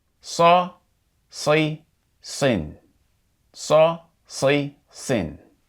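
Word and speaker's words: صَ: is pronounced more like saw versus sa. So, it's pronounced more like saw as in chainsaw versus sa as in sand. So, the sad and fatha would be pronounced like saw.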